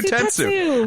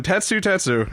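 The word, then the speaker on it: Tetsutetsu: as well kirishima and tess tessu test tattoo tatsu i've been saying it wrong this whole time tatsu tetsu and kirishima have a homestyle brawl that ends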